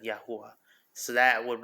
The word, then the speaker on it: Yahuah: like YAHUAH, like YAHUAH, like you're guttering a word that should not be guttered. Some people do that, and it gets confusing. But it's Yah. If you're gonna say it like that, it should be like YAHUAH, YAHUAH, like no gutter. YAHUAH should be clean.